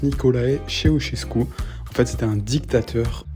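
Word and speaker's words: Nicolae Ceaușescu: parenthèse sur ce monsieur on prononce niikolae cheosesku en fait c'éit un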